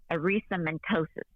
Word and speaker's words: erythematosus: were diagnosed with systematic lupus now the correct pronunciation for this thing is what erythematosus it's systemic lupus erythematosus right it's a serious form of lupus that